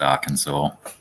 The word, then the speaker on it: Arkansas: a rule hmm Arkansas yeah I know it's pronounced Arkansas we have words that are not phonetically spelt